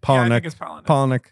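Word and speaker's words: Palahniuk: um so uh Chuck palanuk palanuk I looked up pronunciation is po poic uh WR writes a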